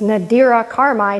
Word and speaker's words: Nadira Kharmai: pronounce my name correctly it's nadira karmai not nadira whatever right we all we